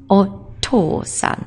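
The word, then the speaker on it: お父さん: Now in Japanese it's actually a T sound that we're after, but it sounds very similar to door, and it is oto-san. So you've got to make that a little stronger.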